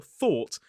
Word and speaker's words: though: So it has the same spelling pattern as the word that came before, thought, without the t, but this time it's a voiced th. V O.